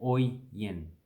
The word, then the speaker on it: Oyen: So in Australia, a lot of people would like to get attention from other people to go, hey, oi, you over there, come over here. And that's basically how you say that, Oyen.